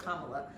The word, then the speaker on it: Kamala: it yes she call herself mamala so it's Kamala um I mean her step children call her